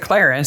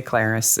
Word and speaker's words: Clarice: I know who named Clarice, but they pronounce it ClariS. So, we should say ClariS as weird as she creepy from the very beginning.